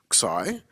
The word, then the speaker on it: xi: And we kind of want to store the value in these Greek symbols, which are pronounced xi. So it's spelled xi and pronounced xi.